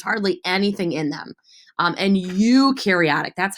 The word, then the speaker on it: eukaryotic: And eukaryotic, that's how you say it. Eukaryotic.